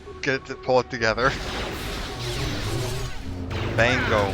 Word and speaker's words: Bango: to pull it together Bango man b-a-n-g-o not banjo for Waluigi and